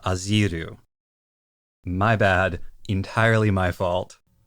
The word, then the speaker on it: Azieru: I have been saying Alpha Azieru because of that IE in the way it's spelled in English. In the Japanese, it's very clearly Ajiru. So it should be Alpha Aziru.